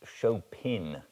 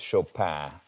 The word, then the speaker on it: Chopin: the french pronunciation so i'm going with the french pronunciation though she was of course american um it's a it's